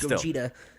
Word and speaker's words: Gogeta: it's pronounced Gogeta.